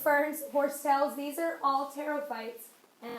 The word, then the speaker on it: pterophytes: Whisk ferns, horsetails, these are all pterophytes, and that's like pterodactyl, so the P is silent.